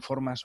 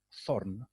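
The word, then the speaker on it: þ: en una letra inglesa la letra form que se escribía como una p con la espina dorsal más larga por encima del bulbo y que se pronunciaba como la cee del inglés moderno esta letra fue la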